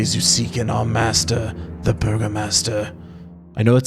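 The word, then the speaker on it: Burgomaster: i literally quick aside i literally typed this word into google to have it pronounce it for me thinking it would say burgo master because it's spelled that way but it says burger master like literally says burger master and i'm just like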